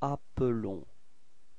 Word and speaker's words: appelons: Okay, so you can notice that the pronunciation is a bit different for the verb. It's appelons, okay, because there is only one L there.